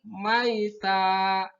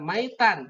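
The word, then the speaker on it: ميتا: Maita. Maita. 1, 2, 3. Maita. Karena berhenti maka tanwinnya dibaca kasroh ya. Dibaca fathah. Tidak maitan tapi maita.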